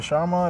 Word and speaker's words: sarma: The sarma, the snar, sarma.